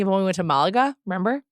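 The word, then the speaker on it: Málaga: Malaga, yes. On all my British TV shows, they say Malaga. Oh, Malaga then, yes. So the Brits don't necessarily say things correctly, but I'm just using the British pronunciation.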